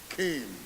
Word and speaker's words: CAIM: It can be used or it doesn't have to be used, but I've coined this word CAIM, C-A-A-A-I-M, pronounced CAIM.